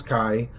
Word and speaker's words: kai: And if you spell kai and if you pronounce kai just kai, that's what it means.